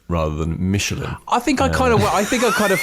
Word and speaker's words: Michelin: I think I threw in the kind of the CH being a shirt, but I definitely kept 3 syllables in there. Yeah, that's true.